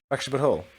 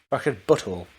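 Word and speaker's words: The Fractured But Whole: Fractured But Whole. That's not how you say it. Fractured Butthole. There you go.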